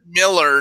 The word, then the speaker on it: Millar: to pronounce somebody's name right Miller not Millar alright wait there was